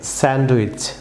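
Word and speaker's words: sandwich: Viewers যেমন অনেকেই এটিকে বাংলাদেশে স্যান্ডউইচ প্রনাউন্স করে থাকেন, রং প্রনাউন্সিয়েশন, সেটি হবে ডি সাইলেন্ট থাকবে ভিউয়ার্স, ডি সাইলেন্ট।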